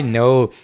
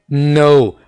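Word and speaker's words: know: मैं जानता हूं, आई नो। के को जहां पर साइलेंट रखें, आई नो।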